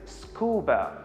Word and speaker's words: scuba: pronounced it i said scuba now i could say s-c-u-b-a but this is wrong actually this is how